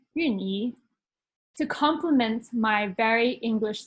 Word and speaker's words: Wan-Yi: And although I look more white than Chinese, you made sure that I had a Chinese first name, Wan-Yi, or in Chinese pronounced as Yun-Yi, to complement my very English surname.